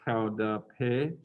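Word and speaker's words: Qaug dab peg: and you fall down the way you pronounce that in mung is cow dappe i think these last syllables go unpronounced so it's cloud pay and there's a did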